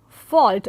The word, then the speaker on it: fault: L, we find that the L did not remain silent, but it became part of a proper pronunciation.